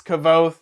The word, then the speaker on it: Kvothe: So for me, it's Kvothe. It's going to always be Kvothe at this point, because I used to say Kvothe, people complained.